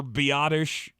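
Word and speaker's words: Biadasz: Isn't that how you say it? It's how you're told to say it. Yes. But it's spelled Biadaz. Biadaz. Which on this here program, we pronounce it the way you spell it.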